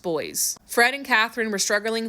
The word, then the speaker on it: Boise: It's spelled Boise, but it's pronounced boys.